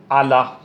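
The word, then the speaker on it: على: मैं लिख दियो देखो आला, ओ आइन है, ओ लाम है, ओ या है। देखो आइन पर जबर और लाम पर खड़ो जबर, तो ओ या साकिन हो जैसी, ओ को निपटी साइलेंट।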